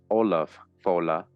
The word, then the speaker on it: Ollam Fodla: Ollam Fodla, pronounced Olaf Fola, is a man well known of thought, not accurately known in Irish tradition as a great monarch, sage, and lawgiver.